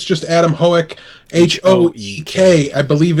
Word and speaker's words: Hoek: his youtube channel i believe it's just Adam hoek h/o EK i believe it's actually pronounced hoke huh but we hook yes that's right but